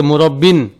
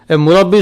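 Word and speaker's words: مربي: মুসাম্মিন রাব্বা ইব থেকে মুরব্বিন এইযে মুরব্বি মুরব্বি শব্দটি র উপরে কি জবর মুব্বি আমরা গলত মানে মানে ভুল উচ্চারণ করে কি? মুরুব্বি। র উপরে কি হবে? জবর হবে মুরব্বি।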